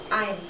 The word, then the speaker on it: ein: Yeah, we're just going to start with one, which is pronounced as ein.